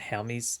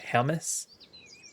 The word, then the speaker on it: Hermes: I heard recently how Hermes is pronounced, and it wasn't Hermes, it's like Hermes.